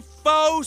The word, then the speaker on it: faux: 86 karat faux Sapphire faux is a French word it's got an X in it but you don't even pronounce the X how do you like